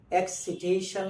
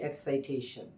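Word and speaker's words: excitation: কিন্তু যখন নাউনে যায় ইনভাইট শব্দটা যেমনিভাবে ইনভিটেশন হচ্ছে, এক্সাইট শব্দটা এক্সিটেশন হবে না, এটা এখানেও আই উচ্চারণ নিয়ে এক্সাইটেশন হবে।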